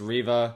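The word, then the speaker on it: Reva: should have checked okay i just spent the past five minutes checking if it was riva or rava and how you pronounce it apparently it's riva this character has a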